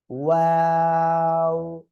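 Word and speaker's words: و: ওয়াও, দুই ঠোঁট শুরুতেও গোল হবে, শেষেও গোল হবে।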